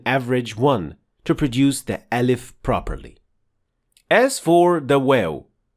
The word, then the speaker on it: alif: as a med letter when pronouncing alif in Arabic the only thing you should be paying attention to is the opening of your mouth it should not be too wide open and at the same time it shouldn't be